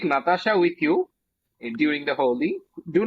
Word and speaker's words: Holi: Let me say what I want to have on my bucket list as a festival, and that would be Holi.